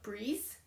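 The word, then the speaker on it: Brise: Uh this is their new yarn called Breeze. And it's spelled B R I S E. Although it's pronounced, it says pronounced breeze, like b re e ee ze and it is a wool and cotton yarn.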